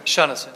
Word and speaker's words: Shunneson: And it's pronounced Shunneson? Shunneson. Shunneson, okay.